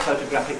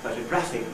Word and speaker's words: photographic: And instead of saying photographic memory, we say photographic memory.